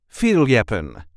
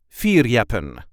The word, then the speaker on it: fierljeppen: is how we say F yapen Feen there is a light emphasis on the first syllable Feen fear yep can